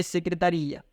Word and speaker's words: secretaria: diferente e mais rápido, porque o acento tônico fez diferença nas duas. Vamos dizer que outra coisa é secretária, outra coisa é secretaria.